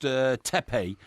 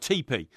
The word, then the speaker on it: teepee: It also, I've got a load of information here saying that you've completely mispronounced tepe by calling it tepe. It's called teepee.